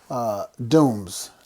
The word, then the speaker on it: Dooms: You know, but no, Nathaniel Dooms. Yes. That's how we pronounce his last name.